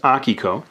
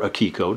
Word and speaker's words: Akiko: Now we jump back in time to my very first published comic book series, Akiko, or Akiko, depending on which pronunciation you prefer.